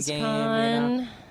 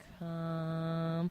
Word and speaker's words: Gamescom: GamesCon. Not until you say it right. It's with an M. Is it Gamescom? Gamescom.